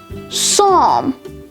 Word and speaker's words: psalm: cupboard pneumonia psalm sephology psychiatrist psychic psychology psychotherapy psychotic pterodactyl raspberry and finally receipt all of these words have the silent letter p next let's take a